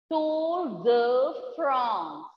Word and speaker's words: Tour de France: And this is a name of this bicycle race is Tour de France. France is pronounced as France. Tour de France. Please do repeat and learn the pronunciation.